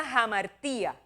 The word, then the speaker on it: hamartia: encuentra esa palabra y en griego me perdonan los que saben más que yo de eso se pronuncia hamartia y lo que significa